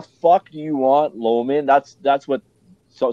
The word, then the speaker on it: Loughman: ] do you want low man that's that's what so some people call me Loman just because of Canadian pronouncing she says what the